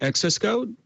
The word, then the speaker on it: xs:code: because it's okay yeah we pronounced an excess code like access code okay cool and tell